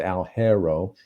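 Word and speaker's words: Alghero: the northwest coast into a a place called algero and that's uh that's a l g h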